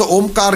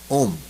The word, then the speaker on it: ओम: ह्रस्व होता है ओम, एक दीर्घ होता है ओम, लेकिन एक प्लुत होता है ओम, ये प्लुत। इस तरह से जब पुकारते हैं तो लास्ट में म इसकी गुंज रह जाती है, ओम, जैसे भौरा गूंजता है।